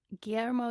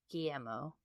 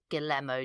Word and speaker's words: Guillermo: It is not Guillermo Del Toro. No. That's all we know. You don't pronounce the L's.